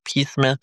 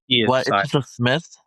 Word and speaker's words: Psmith: Josiah Neely and we have a very special guest Jane Pith of the Pith Substack where they Smith. Okay. Okay. Whatever. P is silent like pseudonym.